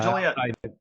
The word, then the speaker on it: Joliet: but, Tim Harrison, who's in Joliet, I always mispronounce it, Joliet, Illinois. Yeah, Joliet.